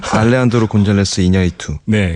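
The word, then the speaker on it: Alejandro González Iñárritu: 번만 말씀드리겠습니다 십 알레안드로 곤잘레스이 야리투 감독이 계십니다 알레안드로 곤잘레스 이냐리투네 그죠네 알레안드로 곤잘레스 이냐리투 감독이 있는데 이름은 어렵지만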